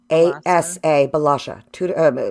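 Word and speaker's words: Bălașa: And his last name is spelled Balasa, Balasha, Sabine Balasha.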